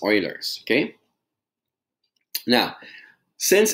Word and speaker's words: Euler: as Euler's number and some people pronounce it a Euler's but I think it's Oilers okay now since it's